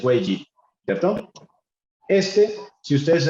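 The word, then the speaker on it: 危机: Tiene dos vocablos, este que se llama wei y ese que se llama ji. Crisis en chino es wei ji, ¿cierto?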